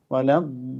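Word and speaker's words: وَلَا الضَّالِّينَ: അതേപോലെ വലദ്ദാലീൻ, അവിടെ ഒരു മദ്ദുണ്ട് അല്ലേ. ലാ എന്ന അക്ഷരത്തെ 6 അക്ഷരത്തിൻ്റെ അത്രയെങ്കിലും നീട്ടണം. എന്താ അവിടെ നിയമം എന്നറിയാം? അലിഫിന് ശേഷം ഷദ്ദുള്ള അക്ഷരം വരികയാണ്. വലദ്ദാലീൻ, അങ്ങനെയാണ് അതിൻ്റെ പാരായണം.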